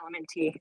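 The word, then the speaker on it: LMNT: It's just pronounced element t.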